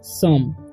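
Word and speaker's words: some: पढ़ते हैं हम लोग सम ठीक है यहां पर एस ओ है तो ओ का उच्चारण यहां पर अ होगा क्यों क्योंकि लास्ट में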